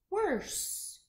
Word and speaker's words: worse: clue with this one this e is silent so let's go ahead and try that again what's the word worse if you have a